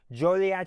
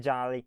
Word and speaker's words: Joliet: Jolad is how everyone pronounces it. So just remember that it's not Jolly, it's Jolie.